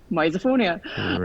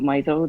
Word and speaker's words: misophonia: pronounced Mia and I've told everyone that it's pronounced misophonia I mean we call we just call it